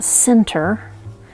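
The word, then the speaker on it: sinter: I did find out it's called a center that sounds like the word Center like the center of the cake or the center of the pizza or something but um but it's spelled s i n t e r and it's just this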